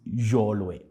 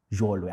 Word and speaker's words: Choolwe: So yes, so technically, my name is Choolwe, right? But then I got you on that one. yes, but because of people pronounce differently, so you tend to let it pass. But the correct way is Choolwe. Actually, it's supposed to be Jhoolwe, if that is the correct pronunciation. But then most people can't, right?